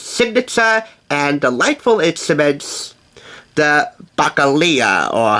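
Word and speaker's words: balalaika: This highlights one of Russ's most signature and delightful instruments, the bacalea, or how do you pronounce it? The bacalaya, that's how you pronounce it.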